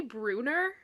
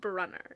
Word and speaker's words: Brunner: And also thing I just remembered in the show they say Bruner instead of Brunner. It is spelled Brunner. It is not Bruner. It's Brunner.